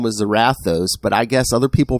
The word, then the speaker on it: Zarathos: It's Zarathos, but right. But he's not from the north of hell. But his family pronounces it Zarathos.